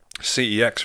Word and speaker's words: CeX: anyway I went to cex which is like you know if you're not from the UK is like just it's actually pronounced sex isn't it if you're from Europe yeah but I'll never